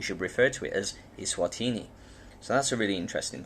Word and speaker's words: Eswatini: And the country is now to be pronounced as Eswatini, and that's recently been recognized internationally. So now Swaziland is a thing of the past. We should refer to it as Eswatini.